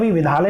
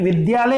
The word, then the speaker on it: विद्यालय: ठीक है विविधा विविधा अरे विधालय नहीं होता यह विद्यालय होता है क्योंकि वर्णिका उनको